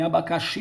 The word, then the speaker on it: abacaxi: abacaxi admitir só que na palavra abacate a sílaba tônica é o carro em abacaxi é o finn mas por quê porque quando